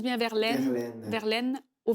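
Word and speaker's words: Verlaine: Prononce bien verlene Verline.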